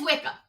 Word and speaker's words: Wickham: But it is Wickham.